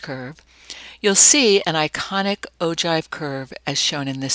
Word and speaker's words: ogive: Ogive is spelled O-G-I-V-E, but it's pronounced ogive.